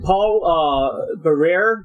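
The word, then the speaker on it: Paul Barrère: And you have, is it Paul Barrere? Is that how you pronounce him?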